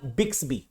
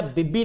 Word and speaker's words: Bixby: Yes, Amazon का Alexa, Samsung का बिक्सबी, BIXBY, है ना, बिब्बी नहीं है, BIX है, सही कर लो स्पेलिंग। बिक्सबी मतलब BIXBY, ये सैमसंग का हो गया।